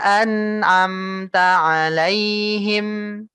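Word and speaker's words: أنعمت عليهم: Kamu nggak bacanya seperti ini. Siratal ladzina an'amta alaihim. Itu satu-satu kamu baca per huruf ya. Tidak enak didengarnya. An'amta alaihim. Gitu ya. Jangan seperti itu.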